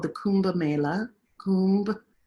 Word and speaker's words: Kumbh: 4 places every 3rd year, what's called the Kumbh Mela, Kumbh, K-U-M-B, Kumbh, you say it like that, means nectar.